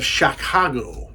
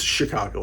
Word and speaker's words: Chicago: he's like a detective in the city of shakago Illinois Chicago it's Chicago I must have mispronounced it I know anyway he's a modern